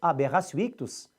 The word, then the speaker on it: aberratio ictus: Já o erro na execução, que é em latim aberratio ictus, você escreve aberratio com o T e pronuncia com o som do C, aberratio ictus, está no artigo 73 do Código Penal.